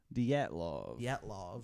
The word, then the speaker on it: Dyatlov: The Dyatlov. Dyatlov. I'm pretty sure that's how it's pronounced. Dietlov. Dyatlov. Dyatlov.